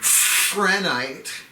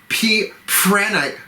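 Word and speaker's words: Prehnite: Prenite. Prenite. P-R-E-H-N-I-T-E. I have trouble pronouncing that, and I'm usually pretty good. Prenite.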